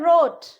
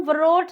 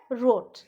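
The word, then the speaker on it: wrote: ये है रोट, उसको हम वरोट नहीं बोलते हैं, वो होता है रोट।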